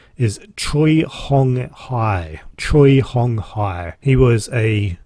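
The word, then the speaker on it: Choi Hong Hi: And the guy that is responsible for that, his name, and I'm going to pronounce this correctly, is Troy Hong Hai.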